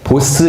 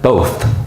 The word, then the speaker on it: both: 보통 이 단어 발음하실 때 보스 이러시는 분들 많죠. 자, 그런데 이거 딱 보니까 이런 말발굽 같은 게 있네. 얘는 우와 그러면 both. 이렇게 발음하는 거구나. 또 들어보면 돼요.